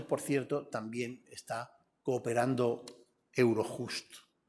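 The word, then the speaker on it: Eurojust: cierto también está cooperando Euro justo mucha gente dice Euro jasto Pero si hablamos en español porque no pronunciar la J como se debe la unión además ha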